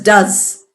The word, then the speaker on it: does: s there so we say e s we pronounce it as does and we add spelling is d o e